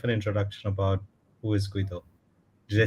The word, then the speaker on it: Guido: little bit of an introduction about who is Guido.